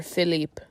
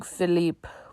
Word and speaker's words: Philippe: Or Philippe. It's spelled Felipe, but it's probably Philippe.